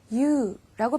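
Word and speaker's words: 言う: 이유. 말하다 라는 뜻이에요. 한자는 이 말씀 원자 똑같이 쓰고요. 유라고 발음할 때도 있어요.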